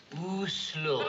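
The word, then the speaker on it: Oslo: how to pronounce it is it o slow or a slow o slow thank you you this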